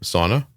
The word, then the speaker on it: Saana: well and your name I pronounce it like the box I get into to warm up sauna yep that's exactly it spilled differently but that's exactly how you say it same country of origin